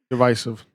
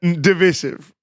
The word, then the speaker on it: divisive: Divisive. Divisive. Um that's how the British say it.